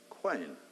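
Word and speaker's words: Qayin: It's from Cain, that we derive the word king, and interestingly, originally, it was spelt with a Q. Q-A-Y-I-N, quain.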